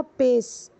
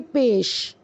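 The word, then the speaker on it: پیش: से ठीक इसी तरह आपने बोला पेस पेस नहीं बोलेंगे पेश शन शीन का प्रोनाउंस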